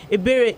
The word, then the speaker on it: Ebere: is spelled is. Ebere, Ebere.